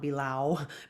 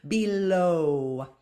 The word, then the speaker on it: below: o sound below and don't be thrown off by that w at the end it's not bilau below above above voiced consonant